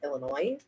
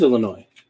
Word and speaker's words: Illinois: to point out that in california we call illinois illinois it is illinois i've been told it's illinois no no it's illinois as in illinois you